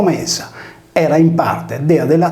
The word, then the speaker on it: Media: Nella mitologia Medea, in origine scritto Media pronunciato Mesa, era in parte dea della terra e in parte dea della luna.